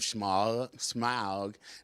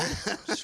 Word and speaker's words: Smaug: So, Ryan, if Smaug needs a buddy, you can take her Nick's home, and they can run around and have a good time.